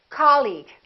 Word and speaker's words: colleague: words the second one did you say colleague or colleague he's my colleague that's right once again it's the first syllable repeat after me colleague colleague he's my new